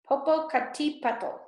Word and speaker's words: Popocatepetl: known as smoking Mountain Popo cut teeth petal Popocatepetl all right I know how to pronounce his next one volcano that erupted from